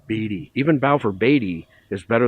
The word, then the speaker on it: Beatty: Most people say, even our own employees, will say Beatty, so either one flies, but the correct pronunciation, and I try to stick with it, is Beatty.